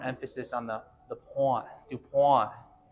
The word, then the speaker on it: Dupont: on the the pawn DuPont DuPont making the French happy folks all right let's